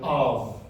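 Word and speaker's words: אב: for father which is the word of of you hear it long a sound followed by a B soft sound of of you get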